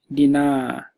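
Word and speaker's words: dinaa: based on the pronunciation dinner is with a long vowel Dina and that refers to I so Dina I will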